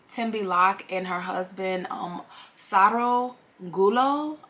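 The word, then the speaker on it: Sarogullo: and her husband um Saro gulo I believe that's how you pronounce his name s-a-r-o-g-u-l-l-o so um it begins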